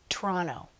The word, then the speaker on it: Toronto: Now, when Canadian people say Toronto, it sounds like Toronto.